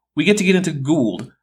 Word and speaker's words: Gould: Oh great, we get to get into Gould, whose name isn't pronounced Gold, but again, English might not be his first language, so he gets a pass.